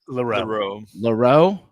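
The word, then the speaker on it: Louro: Leroux.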